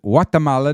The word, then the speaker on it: Guatemala: the lovely country of Guatemala which they pronounce it Guatemala there's no G and uh Guatemala has